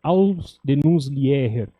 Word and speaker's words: Ausdehnungslehre: Eu vou ler o título em alemão, que o João não se arriscou, mas a pronúncia seria Ausdehnungslehre.